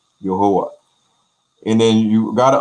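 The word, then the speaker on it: Yehowah: Yeah, so you will see the word Y-E-H-O-W-A-H in Ghana. I seen, you know, we in America, we might say Jehovah, but in Ghana pronunciation is Yahuwah, Yahuwah.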